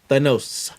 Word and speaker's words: Thanos: Thanos. The nose. Thanos, is that what we're going with? That's what I was thinking too. Is it the nose? Thanos. Okay, Thanos. No, Thanos. Okay, much like Thanos.